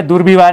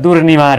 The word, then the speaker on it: दुर्निवार: है दुर्व्यवहार दिया है दूर विवाह नहीं होता है दुर्निवार होता है दूर न निवाड़ दुर्निवार यह शुद्ध होता है अब कुछ लोग